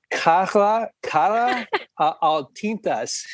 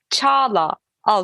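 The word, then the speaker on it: Çağla Altıntaş: Her name is, let me know if I'm pronouncing this correctly. Cara Altintas. Is that correct? I was thinking the second part will be harder, but the first part was harder for you. Chala Altintas. Oh, Chala. Yes.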